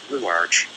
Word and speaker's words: Ruach: Ruach, ego, the Ruach, pronounced Ruach, the ch being a guttural sound, as in the name of the classical composer Bach, is the most familiar portion of the mind.